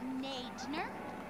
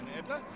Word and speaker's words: Nadler: Commandant Nadner? Did I pronounce that right? You really must correct me if I didn't. Oh, just a bit more practice, Father Nadler.